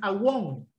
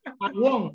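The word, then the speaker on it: עָוֹן: escritor del Génesis es awon. Iniquidad. ¿Sí? La palabra que usa ahí para la palabra castigo, la palabra es awon, que traducido al español es abón, que pronunciado en inglés es eibon, y eibon significa iniquidad.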